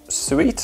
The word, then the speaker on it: Suito: we've got the elite suite oh yeah that's how you say it super compact design I'm